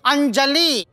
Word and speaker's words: Anjali: It's not Pranjali, it's Anjali. Now, don't say that both end with 'jali' and don't start nitpicking and all that. That's not done. Pronounce it right.